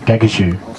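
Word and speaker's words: Gagudju: a hundred huge wingspan kakadu was actually a mispronunciation of another word gagashuk it's my pleasure this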